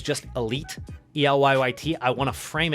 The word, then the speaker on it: Elyyt: brand new video my name is aka elite e-l-y-y-t is how you spell it just in case you didn't know and